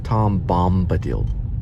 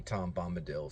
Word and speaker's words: Tom Bombadil: Yeah, that's how you say it. It's kind of a weird name. Tom Bombadil. I think that's how they say it. Tom Bombadil. I just think of dill pickle.